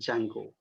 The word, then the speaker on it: Django: How do you pronounce Django. it? Django, right? It is called as a Django.